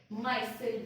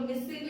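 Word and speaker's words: micelle: हम क्या बोलते हैं, माइसेल बोलते हैं। ये आपका क्या है माइसेल, ये लोग मिसिल भी बोलते हैं, माइसिल बोलते हैं, जैसा आपको प्रोनाउंस करना है वैसे करिए, ठीक है।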